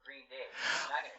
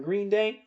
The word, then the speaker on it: Green Day: Hi, it's Trey Cool from Green Day. I love the way Trey Cool says Green Day. He puts the accent on the second syllable.